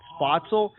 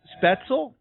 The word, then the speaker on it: Spoetzl: Shiner Bock and I've been pronouncing the brewery's name wrong I've been calling it spotzel but it's uh spaetzel and we have Eric Weber from the brewery